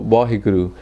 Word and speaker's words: Vaheguru: are wow, but also Vaheguru is great. So it's like an expression of wow. The second way of saying Vaheguru is there's 4 syllables in there, right? Va, he, gu, ru.